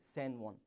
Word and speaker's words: San Juan: We write it like J-U-A-N and pronounce it like San Juan.